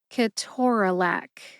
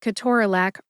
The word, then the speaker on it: ketorolac: It appears that, according to that reference, the USP Dictionary online, I have been saying Ke-TOR-a-LAC wrong since I entered the profession in 1997, first as a pharmacy technician and an intern in pharmacy school, and then later as a licensed pharmacist starting in 2001. Am I going to change the way that I say Ke-TOR-a-LAC? No.